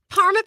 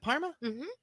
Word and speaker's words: Parma: out there but um Parma Panthers is it Parma that's not right right it's Parma yep the fire ends